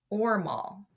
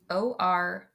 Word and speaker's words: Ormal: The other they put to the south and they name it Ormal. Orma. Ormal.